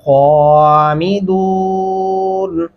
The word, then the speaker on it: خامدون: واحدۃ فَإِذَا هُمْ خَامِدُونَ. یہاں پہ خامدون، خا نہیں کرنا، خو ہونٹ گلائی کی شکل میں لائیں گے تو خا اپنے آپ خوبصورت بن جائے گا.